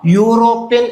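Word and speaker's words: European: യൂറോപ്യൻ എന്ന് ഉച്ചരിക്കുമ്പോൾ അവിടെ എന്താ വരിക? യാണ് വരിക. യാ എവിടാ വരുന്നത്? വ്യഞ്ജനാക്ഷരത്തിലല്ലേ യാരാലാവ. സൗണ്ട് കൺസോണന്റൽ സൗണ്ട് ആണ്.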